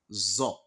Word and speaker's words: ظ: Then we have another identical Arabic alphabet, which is zo. You can see the difference. The difference is that you pronounce so like S-O, then you pronounce zo like Z-O.